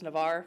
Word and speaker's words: Navarre: nightclub Agathon does so it's Navarre with a silent E okay there's a good